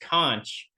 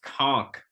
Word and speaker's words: conch: It's uh, not pronounced conch. It's pronounced conch.